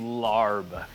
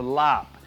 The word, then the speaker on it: larb: don't love the name larb in thai this would be pronounced a lop and you know it's